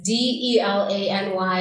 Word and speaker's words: Delany: Yeah, and my name is Delany, so it's Delany, and I like to spell it out because people always add the E at the end of, like, right before the Y.